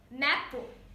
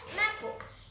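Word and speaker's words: mappa: is derived from the Latin word mapo pronounce it as mapo it's meaning that nothing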